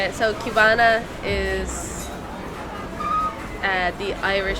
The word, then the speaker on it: qbanaa: So qbanaa is the Irish pronunciation for how you'd say like a Cuban. So they pronounce it like if it was spelled a Q instead of like a C.